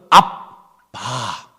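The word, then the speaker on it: ἀββά: 똑같습니다 우리 발음으로는 아빠 그런데 헬라의 발음으로는 압바 비슷해요 비슷해 그냥 빨리 발음하면 똑같아요 아버지를 자상하게 부르는 히브리인들의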